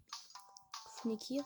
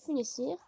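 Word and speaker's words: Funécire: Funekir, non, Funessir, oui, ça se prononce comme ça.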